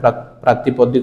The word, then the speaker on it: प्रातिपदिक: से जो जनसेवकटा रहिबो से जनसेवक को आम कौन कहबा ना प्रतिपादिक सॉरी प्रातिपादिक बोली कहबा। प्रोनाउंसिएशन ठीक रखिबो, प्रातिपादिक बोली कहबा, प्रातिपदिक। तो जोड़ा आम कोड़ा कोड़ा